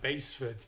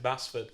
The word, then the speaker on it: Basford: We're talking about like Baseford. Yeah. Insisting we pronounce it as Baseford. The return of this season as well. We've had a respite from the mispronunciations of Baseford, Basford.